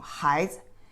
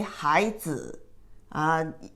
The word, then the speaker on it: 孩子: Here, you only pronounce the light touch tone. 孩子. You don't say 孩子.